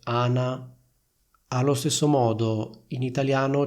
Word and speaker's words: Ana: sola, io devo dire si chiama Ana. Quindi sentite la differenza tra il nome Anna e il nome Ana?